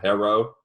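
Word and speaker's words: Herro: tyler herrera phenomenal player say his name right say hero say it you can do it i mean i thought is it hero or is it hera it's hero i've heard conflicting uh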